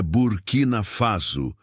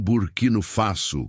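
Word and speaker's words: Burkina Faso: É burquina faso, não burquino faço, como o senhor pronunciou.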